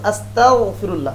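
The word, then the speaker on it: أستغفر الله: কাফের হতে চাই নাউজুবিল্লাহ অথচ আস্তাগফিরুল্লাহ গাইন দিয়ে উচ্চারণ করতে হবে তো আস্তাগফিরুল্লাহ ইস্তেফাল থেকে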